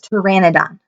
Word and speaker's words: Pteranodon: towards the Terra doc I'm saying it wrong again it's Pteranodon oh no he thought